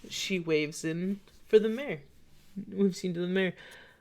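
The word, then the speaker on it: Maher: as in a horse, or mayor as in your job? Not my job, and not the horse either. It's spelled differently than either. Like John Mayer? Yep. Like John.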